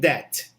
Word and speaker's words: debt: it okay remember that in this word we do not need to pronounce that b a big debt okay they say well